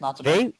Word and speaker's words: Natsume: It's called Shadow of the Ninja, and it's made by, and I don't know if I'm pronouncing this right, Natsume maybe? Natsume, that's how I usually say it. Yeah, it's Natsume. They make, I gotta tell you, they make quality games.